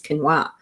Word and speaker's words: quinoa: And that's why I know that quinoa is not pronounced that. It's quinoa.